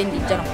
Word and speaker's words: Indiegeno: È scritto Indigeno, si legge Indigeno.